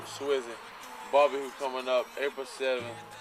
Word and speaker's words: SWSY: Support who supports you. We pronounce it Swizzy.